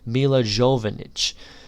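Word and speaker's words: Milla Jovovich: Lilu, played by, I believe her name is pronounced Mila Jovovich.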